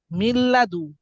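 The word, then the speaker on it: من لدن: কি মি এখানে দেখেন মিন লাদু কিন্তু এখানে নুনটা আর উচ্চারণ হবে না মিম সরাসরি যায় কাকে ধরবে লামকে লামকে মিল্লাদু কি মিল্লাদু মিল্লাদু নুনই উচ্চারণ হইতেছে না নুন সাকিন আছে ঠিক আছে পরে আর উচ্চারণ করতেছে না মিল্লাদু তাইলে দেখছেন নুন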